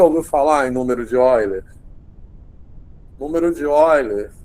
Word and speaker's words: Euler: Euler se escreve, mas se pronuncia Oiler, que é um matemático alemão.